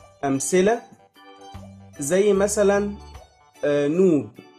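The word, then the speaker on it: ⲛⲟⲩⲃ: أمثلة زي مثلا نوب. نوب يعني ذهب، بيتنطق هنا ب.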